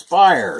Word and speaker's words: Speier: much Jerry Chris fire Jerry ball kind enough to correct me on the pronunciation of that I've been calling him Chris Speier since I was 9 years old so Chris fire shortstop facing Candelaria that's